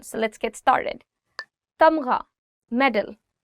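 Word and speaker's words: تمغہ: Tamgha, medal. Tamgha, gha. The sound of gha, or the alphabet ghain, is always coming from here. So try it from here. Tamgha.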